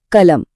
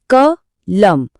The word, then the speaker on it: कलम: शब्द है कलम। जरा ध्यान दीजिए। हम इसे बोलते कैसे हैं? क लम। हम कलम नहीं कहते।